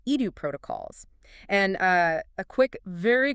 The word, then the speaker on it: EduProtocols: second subject is pronounced edu protocols. Edu protocols. Yeah, think of the word education.